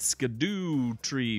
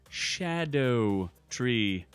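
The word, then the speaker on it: Scadutree: about 2 days ago, I was calling it Skidoo Tree Fragments. When someone enlightened me and said in Old English or something like that, it's Shadow Tree Fragments.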